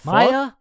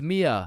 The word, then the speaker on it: Mia: Wait, what the Maya, is is Maya present? Uh, it's it's Mia.